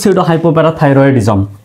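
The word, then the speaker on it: pseudohypothyroidism: পরের শব্দটা হচ্ছে সেট সিডো হাইপোথাইরয়েডিজম। এখানে প্রথমে পি আছে। পির পরে এস আছে। তো এখানে পির উচ্চারণটা কিন্তু হবে না।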